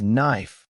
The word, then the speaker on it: knife: Why is knife spelled with a K if we don't even pronounce it?